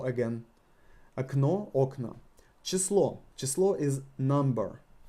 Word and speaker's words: окно: Окно. Окно. Окно. Again, the same rule. The first O is not emphasized because of this. We need to pronounce this A.